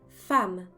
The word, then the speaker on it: femme: Dans le mot femme, le premier E est prononcé A et on ne prononce pas le E final.